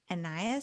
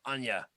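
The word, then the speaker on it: Ania: Legacy Volume 2 featuring Anya Solo. I say it like a Russian name. Anya Solo. Anya Solo. So not could be Anya. I don't know the official pronunciation there.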